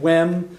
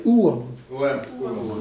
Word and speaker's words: uaim: Some people, instead of saying wem, which I picked because it was the easiest pronunciation, you'll also hear some people say uam.